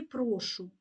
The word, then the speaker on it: прошу: ви доклали чимало зусиль Звертаю увагу на наголос у слові прошу не прошу це дієслово що роблю наприклад прошу прочитати казку а прошу наприклад у відповідь на Дякую говоримо прошу також Зверніть увагу на